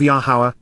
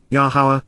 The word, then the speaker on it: Yahowah: Malak so the supernatural Envoy and voice of yahwah yahwah the proper pronunciation of the name of yahwah our eloa